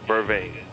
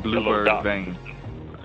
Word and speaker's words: vervain: Okay, what's the proper pronunciation of the blue vervain? Is that it? Blue vervain? BLUE, right? Blue, BERVAIN, vervain. Because somebody said they thought you were saying yellow duck and bluebird vein.